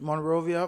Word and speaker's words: Monrovia: Monroia.